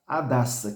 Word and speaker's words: Hadassa: talvez seja Hadassa mas a gente vai pronunciar Hadassa porque aqui o h seria mudo né seu seu nome hebraico era Adassa que significa Murta Murta